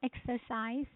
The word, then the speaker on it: exercise: The stress is in the first syllable.